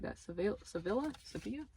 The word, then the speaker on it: Sevilla: postcards my friend Audrey sent me one from seevilla why don't I say it like that se Sevilla Sevilla right here I want to make a